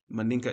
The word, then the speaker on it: Mandinka: Manika. Mandinka.